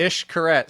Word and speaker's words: Xcaret: Xcaret. So the X down there is the X down there is an ish. So if it's Cancun, Mexico, for everybody that's wondering, it's Xcaret.